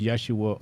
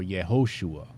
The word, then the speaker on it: Yeshua: Alternatively pronounced Yeshua or Yehoshua.